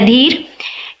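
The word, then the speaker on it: adhere: इसका प्रोनंसिएशन होता है अधीर।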